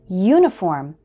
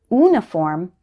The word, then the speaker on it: uniform: it also happens with uniform don't say uniform say uniform the letter U should be pronounced like you not just ooh here are some more